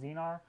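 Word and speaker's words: Xenar: These first models also came with a S Zenar lens, that's X-E-N-E-R, I believe it's pronounced Zenar, and those were made by Schneider.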